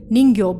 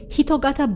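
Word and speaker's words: 人形: as human-shaped objects so apparently in Japanese it's not read as jinke bhutai or ningyo bhutai the correct reading of the term is hitogata bhutai but we just call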